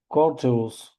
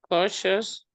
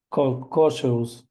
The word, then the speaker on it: cautious: I genuinely intended uh Cortus. Do I pronounce correctly? Cautious. Cautious.